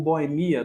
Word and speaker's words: boêmia: Lembrando que você pode, como a gente tá falando de acentuação gráfica, você pode falar boia ou boemia, dupla pronúncia prosódica, você pode falar xerox ou xerox, pode falar duplex ou duplex.